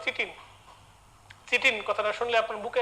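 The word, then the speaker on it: chitin: আপনারা ছোটবেলায় পড়েছেন কাইটিন, সেই কাইটিন হচ্ছে বানানটা দেখেন কাইটিন বানানটা বড় হইলে নামটা শুনলে আপনার কাছে একটু অবাক লাগবে, উচ্চারণটা হবে চিটিন।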